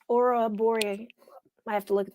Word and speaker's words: Ouroboros: And Nina says I did pronounce Ouroboros.